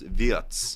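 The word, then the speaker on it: Wirtz: It's pronounced Viet. Yeah, Viet.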